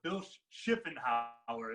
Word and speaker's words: Bill Schuffenhauer: So Bill Schuffenhauer is how you say it.